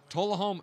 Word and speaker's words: Tullahoma: Tullahoma.